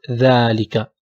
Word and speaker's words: ذلك: In ذلك also we have a hidden a. ذلك. We pronounce it ذلك. Not ذلك. ذلك.